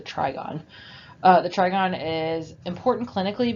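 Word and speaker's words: trigone: is called the trigon i think i pronounce it try guinea on the last a couple slides ago but it's the trigon the trigon is important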